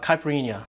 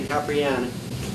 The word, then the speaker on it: caipirinha: of things he says right but he like pronounces everything wrong so the next drink is the caipirinha this drink is called a capriana caprina wait how did he say it capriano